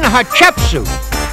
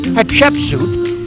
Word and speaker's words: Hatshepsut: boy it was queen hatshepsut and if you say her name quick enough it kind of sounds like hot chicken soup at least that's the